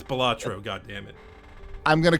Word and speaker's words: Balatro: But if you call it Balatro, I will never speak to you again. It's Balatro, goddammit.